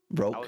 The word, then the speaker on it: Roke: So it's just me to pronounce Roke. Roke.